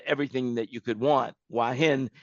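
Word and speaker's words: Hua Hin: and inexpensive and everything that you could want wahin it's spelled h u a h i n if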